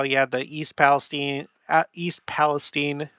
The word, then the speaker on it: East Palestine: had the East Palestine East Palestine and that's how they pronounce it over there East Palestine Ohio train